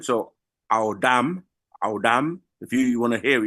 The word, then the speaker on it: Adam: They give you the pronunciation. So, Audam.